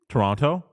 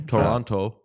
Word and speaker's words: Toronto: ask you here uh could you say Toronto yeah you do say wrong Toronto the the second is it really yeah you don't say the T second T well so like that's how you say it phonetically and I'm sure that